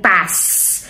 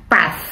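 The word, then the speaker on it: paz: Well, sa atin, sinasabi natin pass. P-A-Z. Zeta. Pass. But normally, ang mga Spanish kasi, pinopronounce nila yung zeta na yan as like TH, like path.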